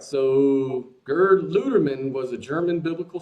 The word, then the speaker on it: Gerd: Gerd Ludeman, I think. How do you spell that? G-E-R-D. Gerd. G-E-R-B. No, D is in dad.